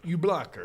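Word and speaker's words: Uebelacker: you blacker e blacker was he on blackish spell that last name because i want to get it right e blacker u-e-b-e l-a-c-k-e-r oh that's a very german-sounding name you blocker yeah yeah okay all right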